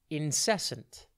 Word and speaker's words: incessant: TV today's word is incessant it's pronounced in sent and it is spelled i n c e s s a n t think in then cess and then ant incessant describes something usually